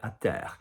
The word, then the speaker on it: terre: not in the air, à terre. Say for me, terre, terre, à terre. So a little bit of a ducky quality sound there.